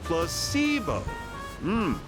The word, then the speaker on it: placebo: today repeat after me plus SEO the stress is on the middle syllable very good you're